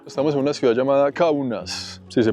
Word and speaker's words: Kaunas: Estamos en una ciudad llamada Kaunas, si se pronuncia bien. En el mapa me dice Kaunas, la gente de aquí la pronuncia como Kaunas.